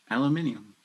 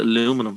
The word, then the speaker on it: aluminium: yeah hyundai i do aluminium for me aluminium yeah but you guys call it aluminum for some reason whoa you guys next